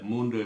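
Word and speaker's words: mais: அப்போ உதாரணம் பாருங்கோ இந்த சொல்லு மே என்று உச்சரிப்போம். அப்போ இதில் வந்து இந்த எஸ்ஸை உச்சரிக்க மாட்டோம், மே என்று உச்சரிப்பேன்.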